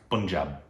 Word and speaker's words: Punjab: kudos to you I've been told it's pun Punjab yeah like I I'm guilty of having called